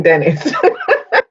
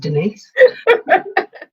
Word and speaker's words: Denise: Hi, I'm Dennis. It's actually pronounced Denise.